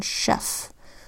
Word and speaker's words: chef: and CK you remember CH makes three sounds check Shh first sound as in chin second sound as in chorus and third sound Shh as in chef so when you see